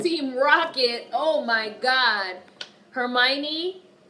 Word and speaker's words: Hermione: Rocket oh my god Hermione not her my Oni I think black folks